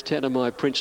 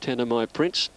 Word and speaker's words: Tanamai Prince: Tanamai Prince to move in. We're told that's the way they want that one pronounced. Tanamai Prince.